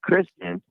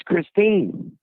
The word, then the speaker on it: Kristine: You didn't even say her name right. You kept saying Kristen, and her name's Kristine.